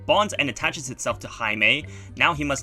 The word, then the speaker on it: Jaime: Jaime Reyes it's yes it's pronounced Jaime instead of Jamie um in espanol who